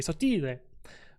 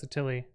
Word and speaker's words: Sottile: So if I were true Italian, it'd be Sottile. But it's we've anglicized it, so it's Sottile.